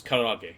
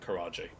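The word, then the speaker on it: karaage: No, it's it's Karag. Yeah, not Karaj.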